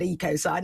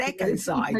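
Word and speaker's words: ecocide: to pronounce it and I'd always said EOS side and it said Echo side so I'm sure it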